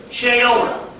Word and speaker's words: Sheola: S-H-A-Y-O-L-A. Like Crayola?